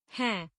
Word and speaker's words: है: But keep in mind, both these written as n, but in pronunciation they sound aha. Like this word is pronounced as hai.